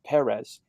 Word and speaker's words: Perez: I'll just be the devil's advocate side of like the guy that I'm a huge George Perez fan, like Perez fan, because there's a accent on the E.